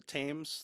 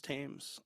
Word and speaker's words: Thames: Bridge into the River Thames that's how it's pronounced right the Thames Thames tames anyway uh he was promptly arrested after he